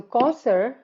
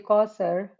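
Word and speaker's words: كوثر: to comment on that, the way it is spelled with the sound of sa, which is not s actually. In Arabic, in Urdu, sa, there's a different level of tha, and it is this one is tha.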